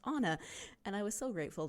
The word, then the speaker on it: Anna: email Anna and say do you pronounce your name like Anna from Frozen when she emailed me and said oh and by the way my name is pronounced Anna and I was so